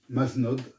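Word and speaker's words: Mazenod: lesesso vous vous poserez à maeno qu'on prononce manod bien sû en anglais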